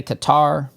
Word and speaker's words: Qatar: I think it's cutter. Some people say Qatar.